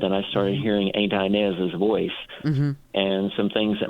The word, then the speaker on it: Inez: my head, Inez, but I'm hearing it with a southern pronunciation, Inez. Your Aunt Inez, because I'm from the South, and it's not your Aunt Inez, it's your Aunt Inez.